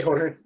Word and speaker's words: Jorge: J is pronounced like an H.